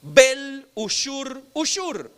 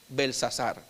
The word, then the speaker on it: Belsasar: Y en esa carta el rey le ora a sus dioses para que protejan a su hijo Bel-Ushur. Otra forma de pronunciarlo pudiera ser Belsasar.